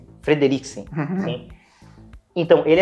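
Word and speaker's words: Fredricksen: O Carl Frederiksen, assim que se pronuncia? Frederiksen.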